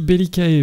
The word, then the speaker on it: Bellicae: d'essayer de trouver donc si belicae vient bien du latin Bellicus le guerrier il dirait que le C se prononce comme un Q mais est-ce que ça